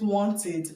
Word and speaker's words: wanted: is found here, because commonly in this country we pronounce it as e, but the right pronunciation is e. Okay, short e. Short e. Okay, so you pronounce it wanted.